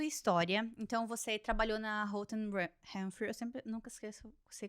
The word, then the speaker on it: Holt Renfrew: Voltando pra sua história, então você trabalhou na Holt Renfrew, eu sempre nunca esqueço, sei como pronunciar. Holt Renfrew. Renfrew. É difícil de falar, gente. Não fale o and, que daí você vai se confundir.